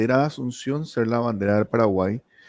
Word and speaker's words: Paraguay: Asunción en guaraní es para y Paraguay es Paraguay. O sea, lo lees en guaraní. La y para nosotros es una consonante que se pronuncia e, ¿verdad? Es una expresión gutural que se hace, ¿verdad?